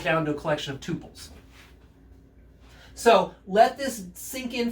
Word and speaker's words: tuple: So let's say written as T-U-P-L, tuples. Some people pronounce it tuples. I guess I say tuples.